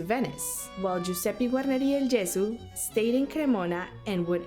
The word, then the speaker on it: Gesù: my previous video that the correct pronunciation of del Gesù would be del Gesù. Even though I've been growing up listening and always speaking of del Gesù, so in that way I feel a bit more comfortable.